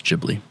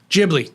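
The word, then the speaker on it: Ghibli: Miyazaki says Jibli. Jibli.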